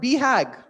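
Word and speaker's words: BHAG: of this term called beag yeah so you BH a g but you pronounce it beag big hairy audacious goals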